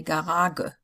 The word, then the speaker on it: Garage: Nobody in Germany would say Garage. although that would have been the German pronunciation. It's Garage.